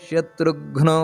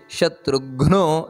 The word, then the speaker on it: ಶತ್ರುಘ್ನೋ: ಹಿರಣ್ಯ ಗರ್ಭ ಅದೇ ರೀತಿ ಶತ್ರುಘ್ನೋ ಶತ್ರುಘ್ನೋ ಅಲ್ಲ ಶತ್ರುಘ್ನೋ ಅಲ್ಲಿ ಒತ್ತು ಕೊಟ್ಟು ಹೇಳಬೇಕಾದದ್ದು ನಂತರ ವ್ಯಾಪ್ತೋ ವಾಯುರದೋಕ್ಷಜಹ ನೋಡಿ